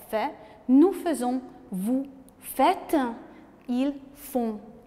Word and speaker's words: font: Nous faisons, vous faites, ils font. Nasal, font. D'accord? D'ailleurs, on fait un son nasal même avec d'autres verbes. Donc nous parlons un son nasal. On ne prononce pas le N.